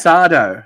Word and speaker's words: Sardo: My name's Sardo. No mister. Accent on the dough.